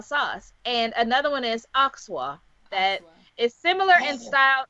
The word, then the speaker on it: Alsace: how to pronounce it oxa oxa o oxa yeah the r is I mean a French person saying it would be a little throatier with the r but right interesting oh